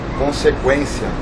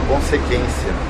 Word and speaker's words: consequência: O trema eram aqueles dois pontinhos que ficavam em cima do U para dar uma outra pronúncia à palavra. Por exemplo, consequência. Se não tinha trema, a gente falava consequência.